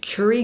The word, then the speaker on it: Currie: Curry Grant is, and it's not Carrie like the actor, it's Curry. It's spelled Currie.